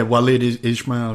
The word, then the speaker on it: Walid Ismail: had a jiu-jitsu match with a guy named Walid Ismail. I don't forget how you pronounce his name. Yeah, Walid Ismail, yeah.